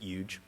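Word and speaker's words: huge: Mike like Trump, is from Queens, so he also pronounces it Yuge.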